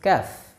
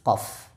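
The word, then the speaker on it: كاف: Kesalahan-kesalahan yang sering terjadi pada pengucapan huruf kaf. Yang pertama adalah membacanya seperti huruf qaf. Walaupun kaf dengan qaf sama-sama keluar dari pangkal lidah, akan tetapi keduanya keluar dari makhraj yang berbeda.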